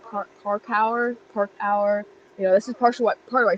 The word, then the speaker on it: parkour: But it actually did us a really good service, because just the word, like, it's a French derived term. It's, how do you say it? Park hour.